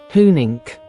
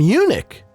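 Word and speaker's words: Huenink: right because uh don't want to be insulting hunink hunink so that's how you pronounce the founders of the fun Pimp's last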